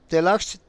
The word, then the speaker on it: Taxco: Tasco es una palabra de origen náhuatl que se pronuncia Tlachtli-co, que en español significa